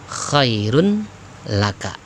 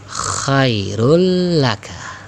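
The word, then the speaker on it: خَيْرٌ لَكَ: Tulisannya khairun laka. Ketika dibaca ya, dileburkan, dihilangkan tanwinnya menjadi khairul laka ya, khairul laka. Tidak berlama-lama bacanya, ingat idgham bila gunnah ya, karena tanpa dengung ya, atau tidak didengungkan. Khairul laka, paham ya nak ya?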